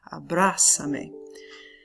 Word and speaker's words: abrázame: Once you add the pronoun at the end, you add the accent also to the stressed syllable, the one that's already the loudest. Abrázame.